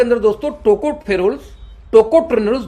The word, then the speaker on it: टोकोट्रेनोल्स: लेकिन palm oil के अंदर में दो एंटीऑक्सीडेंट पाई जाती है, टोकोफेरोल्स और टेकोट्रेनोल्स। प्रोनाउंसिएशन फिर से आप इसका नाम पढ़ना सीखना पड़ेगा, सीख लेना, है ना।